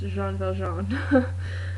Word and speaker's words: Jean Valjean: I've never seen the movie or anything, so I do know that Jean Valjean is pronounced Jean Valjean.